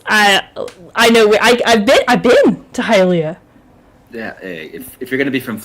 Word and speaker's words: Hialeah: any of the anxiousness just by the proper pronunciation of Hialeah, so thank you.